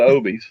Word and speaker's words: obi: while we're talking about the obies, which I'm glad to hear you pronounce it that way, because I didn't know if I was butchering that for years. So apparently OB I or was correct.